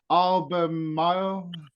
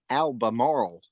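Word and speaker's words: Albemarle: say it but in Al Mar yeah yeah Alba Alba it's pronounced albam moral but uh when you live here you do everything a shortcut we call it Alma Alma yeah we we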